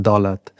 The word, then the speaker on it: Dolat: and then my son name, which is Dolat, but actually pronounced Dolat, translates to like wealth in Hindi.